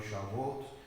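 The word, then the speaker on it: שבועות: de Pentecostés que es la celebración que se pronuncia en hebreo shabot o la celebración de las semanas que fueron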